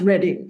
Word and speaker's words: Reading: reading in England is spelled reading but it's pronounced reading is is that right correct right yes yeah